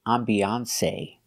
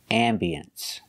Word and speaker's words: ambiance: You cannot say ambiance. You can say ambiance or ambience. It has two pronunciations.